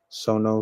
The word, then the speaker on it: Sono: It's like Sono Shion. That's how you pronounce it.